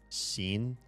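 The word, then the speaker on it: Xin: yeah his character's name the x i n is scene it's like sh but if it was closer to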